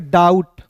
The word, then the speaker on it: doubt: ठीक है, देखिए यहाँ पे DOUBT है, तो इसे डाउट नहीं पढ़ेंगे, इसे पढ़ेंगे डाउट, बी को साइलेंट करते हैं। डी का OUT, तो इसे पढ़ेंगे डाउट।